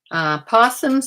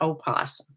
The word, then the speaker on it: opossum: Possums are even though it's spelled with an O in front, it's still pronounced possum. It's not opossum, by the way.